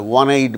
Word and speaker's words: one-eyed: Words which begin with the initial sound in the word wind, such as w, a one-eyed man, w, wind.